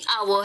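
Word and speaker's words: hour: हम हा बोलते हैं लेकिन कुछ ऐसे शब्द भी है इंग्लिश में जैसे की अवर है और है ऑनेस्ट है ओनर है उन सब में हा को साइलेंट रखते हैं अगर आपको तिलसा देना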